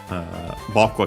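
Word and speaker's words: 僕: Boku accent on the first mora, yeah, with more language as usual.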